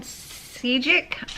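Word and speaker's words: Šejić: And then on the 11th, I read Fine Print by Steven Sejic, I believe is how it's pronounced.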